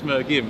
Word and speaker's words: Mergim: It's Mergim. Mergim. It's a hard G.